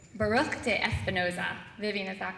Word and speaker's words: Baruch de Espinoza: including dates I have to make sure I'm pronouncing this right Baruch de Espinoza Vivian is that correct yeah okay that's good